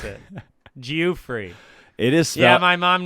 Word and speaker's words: Geoffrey: my life Go free yeah someone called me geo-free in Seattle yeah that's bad how how could that be my name how could that be how you pronounce it Geoffrey it is yeah my mom named me jewfrey